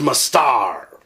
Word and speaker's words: Mustard: with mustard it's pronounced must the D is silent are you kidding me